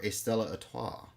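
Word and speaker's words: Stella Artois: diet caffeine-free Pepsi or Estella atah Estella is that how you pronounce it Estella ATA I think so I think the r is silent it's not a toce no a all right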